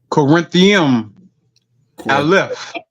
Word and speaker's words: Qorintiyim Aleph: How we pronounce this according to Qorintiyim Aleph.